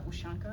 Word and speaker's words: Ushanka: In the story, Ushanka, I think I'm still pronouncing that wrong.